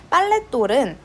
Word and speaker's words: 빨랫돌: 자, 1번 빨랫돌은 빨래 플러스 돌이죠. 그랬을 때 합쳐서 발음하면 똘로 발음이 된단 말이죠.